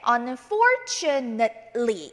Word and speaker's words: unfortunately: 동사가 아닌 경우에, 명사나 형용사일 경우에는요 nate라고 읽지 않고 net라고 끊어주셔야 되겠습니다. 그래서 읽으실 때 unfortunately 이렇게 읽어주시면 됩니다.